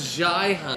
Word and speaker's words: Zhiyun: Spencer, hey, how do you pronounce it? Oh, he says Zhiyun.